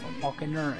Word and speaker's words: Falkner: Falkner? It's just Falkner. One, two syllables.